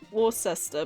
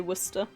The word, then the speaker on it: Worcester: that one I never got cuz it literally is spelled Wares it's the same as the town War cester but you say Worcester and Wester I know go figure are you